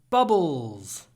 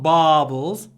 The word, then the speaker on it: bubbles: My son loves playing with bubbles. Bubbles, not baubles. Bubbles. We do a little pause to mark the stress. With bubbles. Bubbles. But it's not a hard b.